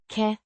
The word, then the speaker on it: kan: kan, Means can, or, is able to, pronounced can, with a similar vowel sound to kan, in English.